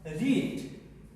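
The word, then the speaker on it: read: रीड की third form होती है, सेकेंड होती है रेड और थर्ड होती है रीड। रीड, रेड, रेड spelling same है लेकिन प्रोनाउंसिएशन अलग अलग होता है।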